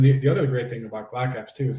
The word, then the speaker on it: GlockApps: It might be pronounced G-Lock Apps. I don't know. I just call it Glock Apps.